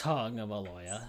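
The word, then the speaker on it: Tagovailoa: He's to a tag along, not to a tagoya or whatever you say his name. Tongoya. Yeah, it's tongueoya.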